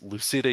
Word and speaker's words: Lucida: It's Lucida. It's spelled with like Lucinda but without an N.